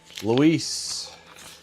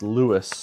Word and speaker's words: Lewis: Luis. Actually, that's Lewis. That is Lewis the way it's spelled.